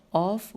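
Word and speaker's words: عوف: بنی ثعلبہ کے اوف و معقل نے، اب ہجے کرتی ہوں، عین واو فے واو اوف و میم عین قاف لام نے ان کی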